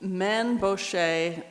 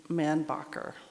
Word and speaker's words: Mainbocher: Mainbocher, Mainbocher. That's how I pronounce his name, but other people I've heard use the name Manbacher.